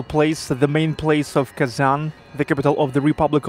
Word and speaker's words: Kazan: of kazan in russia we pronounce as kazan kazan softly and softly kazan here is a moscow